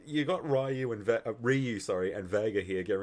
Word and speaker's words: Ryu: Um he actually says uh Ken and Ryu. He's the only one to actually pronounce it correctly. Everyone else says Rayu.